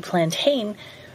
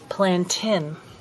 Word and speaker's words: plantain: saying hang on this is supposed to be plantain whereas actually know the proper pronunciation of this plant is plant in at the moment I'm focusing on the broadleaf